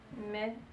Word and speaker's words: mette: Il faut que je mette que je mette. Mette. Il faut que je mette. Mette. Appuyez sur la dernière syllabe.